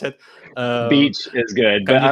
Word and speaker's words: BEEACH: I don't know what's the right way to pronounce it. Beach is good, Can but you explain a little I bit might go like what's biatch.